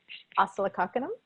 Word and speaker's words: Oscillococcinum: And I personally will never travel and never be without easy access to oscillococcinum. Did I pronounce that right?